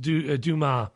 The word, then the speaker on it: Dumas: My pronunciations are disgraceful. So it's Roland Dumas.